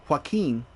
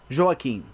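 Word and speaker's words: Joakim: which I I learned his name isn't pronounced hin is joakin so kind of Joe and Akin so zaken from Sabaton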